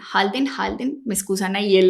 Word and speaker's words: Halden: documentales que lo muestran, es la prisión de Harden. Halden. Halden, me excusan ahí en la pronunciación de Noruega.